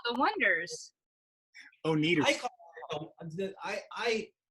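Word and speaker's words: Oneders: the band the o-neders wonders Oh needle eye there's two ways spell it and there's the wonders which is w like like Wonder Bread and then there's wonders where you spell oh and E right the joke of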